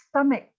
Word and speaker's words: stomach: So the word stomach is pronounced stomach, and it's stomach ache when it hurts, right? It's a head ache. It's not the CH sound, it's a K.